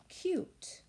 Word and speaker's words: cute: And that silent E that is not pronounced on the end. There's that pattern, one vowel, one consonant, and a silent E at the end.